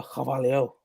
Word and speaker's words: Carvalho: Personally, it's Fabio Carvalho, but yeah, Carvalho is fine.